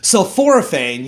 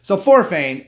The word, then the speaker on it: sulforaphane: Sulforaphane, that's what actually makes the vegetables kind of smell. And if it sounds like the word sulfur, you're right. Sulforaphane actually protects your cells